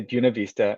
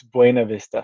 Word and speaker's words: Buena Vista: And natives say Buena Vista. In 25 years here, I can't do that. It's Buena Vista for me.